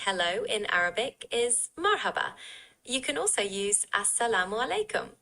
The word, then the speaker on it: marhaba: Mar hb and s la mu alikum.